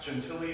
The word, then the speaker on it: Gentile: But so her childhood priest's name was Father Gentilli, but he spelled it like Gentile, which I also got a kick out of. So um this poem is called divination poem 2 or pronounced gentilly to my disappointment.